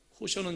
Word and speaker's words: 코셔: 미국식으로 발음하면 코셔는 여러분들 요즘 많이 들어보셨지요? 코셔입니다.